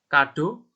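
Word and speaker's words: cadeau: Untuk ini, huruf CA, CU, dan CO ini dibaca K ya, jadinya K. Jadi K, Ku, Ko. K, Ku, Ko. Terus ya contohnya itu ada kado, cuisine, sama komong.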